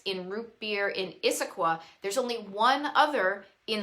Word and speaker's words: Issaquah: here is a place i'm probably going to mispronounce issaquah that looks pretty close enough it's got two